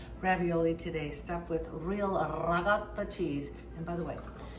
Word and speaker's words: ricotta: And today I woke up feeling quite Italian, so I decided to make some spinach ravioli today, stuffed with real ricotta cheese.